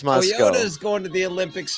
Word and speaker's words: Moscow: Paul's in Moscow, not Moscow. It's pronounced Moscow.